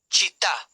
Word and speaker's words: città: Words with the stress on the final syllable usually show it with an accent mark. Examples: città, c i t t